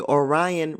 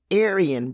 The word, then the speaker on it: Aryan: Kat repeatedly mentioned the Orion Brotherhood before I realized that she was speaking of the Aryan Brotherhood.